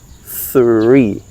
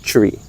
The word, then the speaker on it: three: Three, all right? Three, not tree.